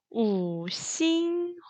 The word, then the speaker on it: 五星红旗: 자, 오성홍기 발음은 3성, 1성, 2성, 2성입니다. 같이 한번 볼게요. 우싱홍치, 우싱홍치.